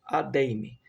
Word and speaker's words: Adeyemi: segunda a sondagem por a deim é assim que pronunci na deim H que